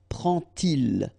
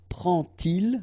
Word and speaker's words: prend-il: And so you will get prend-il, okay? But then here, prennent-elles, okay? So you get your T and then prennent-elles, all right? So prend-il, remember, D pronounced like T, and here prennent-elles.